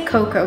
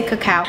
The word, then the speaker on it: cacao: collagen action coco cacao how do you pronounce it i say coco but i know people say cacao anyway we got a